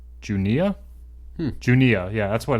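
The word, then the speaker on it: Juneau: to this part but it was called junia junia yeah that's what it's that's that's how you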